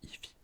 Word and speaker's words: Eevee: Les évolutions d'Evoli et Evoli en anglais ça se dit Eevee.